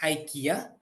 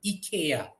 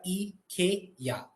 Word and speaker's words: IKEA: for ikea is actually ikea all right e k ya right so that is the actual pronunciation if we are pronouncing it in sweden or if you are using swedish alright one more minute